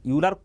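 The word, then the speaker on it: Euler: ऑयलर जो equation है, यूलर कुछ पूरा कंट्री में कुछ लोकेशन में यूलर बोलता है, कुछ लोकेशन में ऑयलर बोलता है, ठीक है उनका प्रोनाउंसिएशन।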